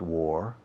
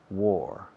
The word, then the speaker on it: wore: war war where war can you pronounce war we're not war boring bore nuclear core yesterday i wore four shirts rima con la valabra guerrera says war negativity i wore a war war war i wore sweaters during